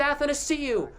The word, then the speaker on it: Athanasiou: He said Athanasiou.